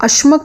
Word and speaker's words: अश्मक: अब अश्मक को असक भी कहते हैं। असक पाली भाषा में थोड़ा मॉडिफिकेशन होती है। काफ़ी सिंपलीफ़ाइड प्रोनाउंसिएशनंस होती हैं। तो अश्मक असली नाम है। पाली में असक है।